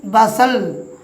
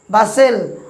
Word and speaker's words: bustle: দেখুন, যেমন BUSTLE, এখানে টি সাইলেন্ট থাকবে, উচ্চারণ করব কি বাসেল। বাসেল বাসেল মানে হচ্ছে ভিউয়ার্স অতিশয় কর্মব্যস্ততা।